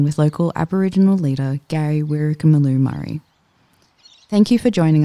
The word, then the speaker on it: WyrkerMilloo: So it's WyrkerMilloo, and WyrkerMilloo is spelled W-Y-R-K-E-R.